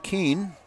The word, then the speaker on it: Keene: That's a sac fly for Kobe Keene. Let me check the pronunciation on Kobe's name. Yep, Kobe Ken is what we're going to go with.